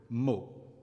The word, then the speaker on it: mot: O is open in the feminine adjective meaning soft, molle, and close in the word meaning word, mot.